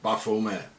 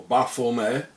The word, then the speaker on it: Baphomet: Therefore the name should be pronounced without the T at the end. As the early Templars were French, and in French the T at the end is not pronounced, coming to the exact pronunciation in Demotic.